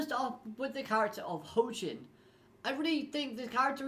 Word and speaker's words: Hoaqin: to just express that when i pronounce the name ho chin i feel like i'm saying it correctly however that is what translators told me so that's what i'm